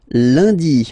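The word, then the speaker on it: lundi: the week starts with landi monday landi lady okay remember uh n is pronounced like uh landi landi landi then mardi mardi so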